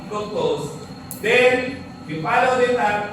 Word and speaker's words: fructose: Fructose. Sweetest monosaccharide. Ay, ikaw alam mo nakita mo. May babe ka lang. Fructose. Fructose is fruit sugar. Madali tandaan, it rhymes with fruits.